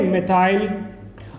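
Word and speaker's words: methyl: तो कंफ्यूज नहीं होना, कहीं पर मैथिल भी हो सकता है या मिथाइल भी, तो बाकी स्पेलिंग सब वही है, बाकी पढ़ने का अलग तरीका हो जाता है, मैथिल या मिथाइल, एथिल या एथाइल, ओके।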